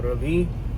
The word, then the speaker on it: Ravi: I don't know if it was Ravi or Ravi, but I looked it up pretty recently, and my name is actually an Indian name, and the pronunciation um, Ravi is the actual correct one.